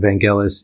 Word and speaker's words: Vangelis: on the Blade Runner soundtrack and others and Vangelis is how you pronounce his name I looked it up on